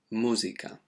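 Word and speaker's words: música: of a ooh sound now the same happens with music we say music in spanish it's musica okay so that's something that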